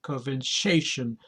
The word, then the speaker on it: conversation: move on converation conversation the stress is on the third syllable and the sh is